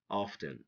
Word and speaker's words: often: to know listen fasten often or often some native speakers prefer to say often okay but it's okay